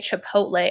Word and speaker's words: chipotle: way that it sounds so if I wanted to say Chipotle I might say to hoax play so that way like if I keep running sake to pull teh okay that doesn't say pol that doesn't say tay says chipotle okay cool so that makes